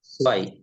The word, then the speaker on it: zwei: সোয়াইস, সোয়াই, এস এর মতন উচ্চারণ হবে, সোয়াই, জেড এস এর মতন উচ্চারণ হবে, এস, সোয়াই।